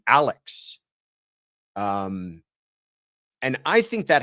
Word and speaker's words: Alex: introduces himself as Alec, even though it is spelled as Alex, but I think it that has to do with that kind of historical Scottish um at least that's what I've read about the pronunciation of his name is to as to why he pronounces it that way.